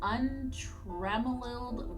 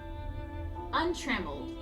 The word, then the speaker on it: untrammeled: all flora blanketed in untremoled whiteness. I have never seen that word before in my life. We're Googling it. Okay, so. Untrammeled. Okay, I was saying it wrong.